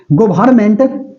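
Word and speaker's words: government: की इसमें गवर्नमेंट इसमें गवर्मेंट जी ओ वई आर एन एम एन टी एमटीएस में एक बार जो है ना जी स्पेलिंग मिस्टेक वाला भी पूछा हुआ है ेर बच्चा गवर्नमेंट का लिखता है जीओ आर एम एनटी N silent है ठीक है इसमें गवर्नमेंट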